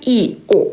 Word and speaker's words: 이오: 왜냐면 단모음이 한꺼번에 같이 올 때는 둘 다 힘을 줘서 발음을 해야 되거든요. 요구르트 이오 이렇게 발음을 해야 되거든요. 근데 이 발음을 빨리 하게 되면은 어떤 사람이든 이요가 돼요.